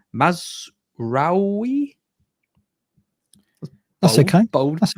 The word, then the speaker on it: Mazraoui: Man United, they've signed De Ligt, and I'm going to get this pronunciation wrong, Mazraoui.